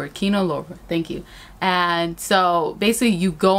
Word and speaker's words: Kino Lorber: And so when you watch this film through, I don't know how to say their production, the distributor company, it's Kino Lorber. Kino Lorber.